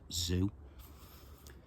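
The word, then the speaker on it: Sze: S-Z-E. I think it's pronounced Zhu.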